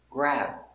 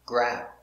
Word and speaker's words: grab: f grab cab again this is a stop b we don't say boo it's just stop grab make the position and stop grab tap crap tap cat